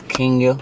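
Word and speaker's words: Kenia: Her name is Kenya Rodriguez. Yeah, don't say it wrong. You feel me? It's spelled K-E-N-I-A.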